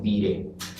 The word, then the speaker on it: Viret: que traducido sería Pedro Viret. Se escribe Viret con B chica y se pronuncia Viret.